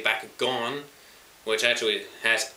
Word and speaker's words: Bakugan: wrong, and I say Bakugan, which actually has O when you think about it. The way I follow how the show pronounces it.